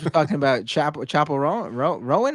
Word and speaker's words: Chappell Roan: Rowan, her name is, right? Rowan? Yes. I'm so out of touch. Yeah, it's Chappell Roan, actually.